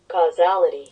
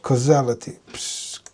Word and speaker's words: causality: Causality. Causality. Causality. Causality. Okay. Nice. Causality. That's how you pronounce that in case you wondered. The law of causality.